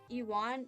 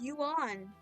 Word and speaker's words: Ewan: Ewan. No, it's yuan. Yuan. Yuan. I don't know. The Japanese pronunciation is yuan.